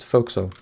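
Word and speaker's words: forecastle: it's spelled out for for castle but you pronounce it foxo and this is where a lot of the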